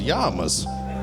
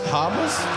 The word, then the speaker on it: Hamas: the is yamas that's that's pronounced H Hamas Hamas I tried to put